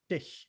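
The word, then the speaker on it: dich: native german speakers is think of it like the letter h in the word human say it slowly go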